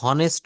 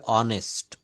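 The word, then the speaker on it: honest: ভুল বলা হয়েছে সেটা হনেস্ট বলা উচ্চারণ করেছেন এটা হনেস্ট না এটা হবে অনেস্ট অনেস্ট এই এইচ এর উচ্চারণটা এখানে হ না হয়ে অ এর মত হবে এবং আর্টিকেলের একটা রুলে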